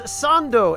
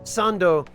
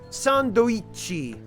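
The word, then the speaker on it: サンド: is the case with sando as opposed to sandi, which does sound kind of awkward in Japanese if you try to say it.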